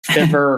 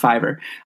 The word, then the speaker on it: Fiverr: I mean, it seems like a lot of like freelance type websites are really taking off, like Fiverr or Fever, however you pronounce it.